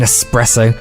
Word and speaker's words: espresso: There's no ing in skeleton. No X in espresso.